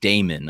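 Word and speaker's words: daemon: a boogeyman a knight haunting demon Damon I should say which preyed on children Damon by the way um d-a-e-m-o-n uh I'm pretty sure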